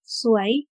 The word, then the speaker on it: สวย: บน อีก สิ่ง หนึ่ง สวย อ่าน ว่า ส อัว ยอ สวย หมาย ถึง งาม